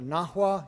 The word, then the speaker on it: Nahua: I'm talking about the Aztecs, but really, properly speaking, I'm talking about the Nahua, N-A-H-U-A, because the Nahua were the Aztecs were